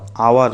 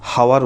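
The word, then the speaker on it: hour: তাহলে দেখো অ্যান আওয়ার বলছি আমরা, কিন্তু হাওয়ার বলছি না, এইচটা উচ্চারণ হচ্ছে না, এইচটা অমিট আছে, সেই জন্য আওয়ার।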